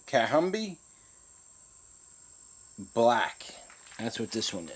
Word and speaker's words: Kathumby: name on this one you pronounce that cat hum be cat hum be black that's what this